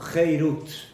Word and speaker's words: Heirut: Y de ahí viene la drashá, el estudio de nuestros Jajamim, que no leas Harut, sino Heirut. O sea, se escribe igual, solamente tiene otra vocal. En lugar de Kamatz, Harut, es Segol, Heirut.